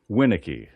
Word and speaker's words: Winiecki: Can you pronounce that tennis player's name? Now, what's your last name again? Winnicki. Winnicki.